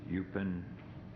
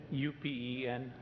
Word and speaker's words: Upen: you next speaker is eupen shua is that correct I probably butchered your name come on up and correct me please uh the name is openen upen sh UK La okay